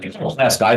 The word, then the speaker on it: Pulaski: Now I'm a Pulaski County resident, of course, so it's something I've talked with Ed and Kent. Pulaski, not Pulaski.